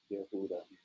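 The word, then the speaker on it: יהודה: Elder says this is how you say Judah. You have to grab a hold of Judah. Yehuda.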